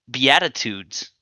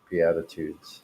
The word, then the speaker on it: Beatitudes: spell it yeah b-e-a-t-i-t-u-d-e-s Beatitudes we add that foods can you use it in a sentence just like attitude with a be on the front so Beatitudes are sayings